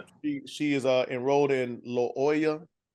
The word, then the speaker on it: Loyola: she is uh enrolled in Loya how you say it little you know I'm talking about the lawyer Loyola Loyola there you go the lawyer of Chicago